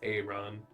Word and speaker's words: Arawn: Can you spell that? Aaron. Yeah. Arawn. So it is Aaron.